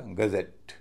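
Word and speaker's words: gazette: नियम के अनुसार स्ट्रेस अंतिम सिलेबल पर पड़ना चाहिए। तो ई डबल टी ई का उच्चारण होगा एट क्योंकि वह भारी है और उससे पहले जो है सिलेबल जी ए जो है वह हल्का हो जाएगा और उसका उच्चारण होगा अ पूरे शब्द को बोला जाएगा गजेट यह तो था सातवां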